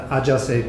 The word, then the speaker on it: Ajase: The Ajase Complex (pronouncing in a Japanese manner), as an Asian counterpart to the well known Oedipus complex.